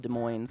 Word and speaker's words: Des Moines: near a place called des moines they don't pronounce the s grimshard human j werlock